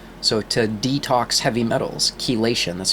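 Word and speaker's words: chelation: the human form so to detox heavy metals Kean that's spelled c h e l a t i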